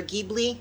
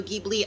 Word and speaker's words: Ghibli: um something like um studio ghibli i believe it's pronounced or ghibli studio ghibli i love those movies